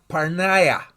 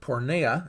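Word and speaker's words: πορνεία: Fornication in the English is the English for the biblical Greek word parneia. Some people pronounce it porneia. It's not. It's parneia.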